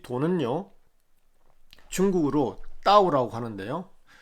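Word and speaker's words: 道: 네, 먼저 이 돈은요, 중국어로 따오라고 하는데요. 영어에서는 이를 갖다가 좀 세게 발음해서 타오, T-A-O로 이렇게 보통 말을 합니다.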